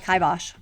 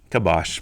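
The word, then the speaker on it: kibosh: Oh, Kaibosh. Kabosh. I'm on team Kabash. 100% Kaibosh. And I would love to hear other people support how I pronounce it.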